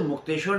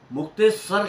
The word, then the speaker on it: मुक्तेश्वर: हुआ करती थी, और इसे मुक्तेश्वर नहीं कहते थे, मुक्तेसर कहते थे।